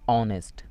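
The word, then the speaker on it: honest: কৰিব লাগিব পৰৱৰ্তীটো চাওক অনেষ্ট অনেষ্ট এইচটো কনসনেন্ট হয়ও কিন্তু ইয়াতে সাইলেন্ট হৈ আছে কোনো উচ্চাৰণ হোৱা নাই সেইকাৰণে ইয়াৰ আগতে সদায়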